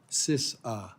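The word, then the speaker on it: CISA: the cyber security and infrastructure agency or phonetically sisa thank you for good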